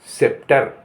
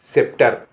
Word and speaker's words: sceptre: SCEPTRE यहाँ सेप्टर, सेप्टर, यहाँ पर सी साइलेंट है।